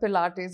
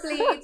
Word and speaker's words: Pilates: Has anyone ever mispronounced the word Pilates in front of you? Always. Yes. Tell us some fun ones. Always, plates. All the time. It's plates, it's pilates.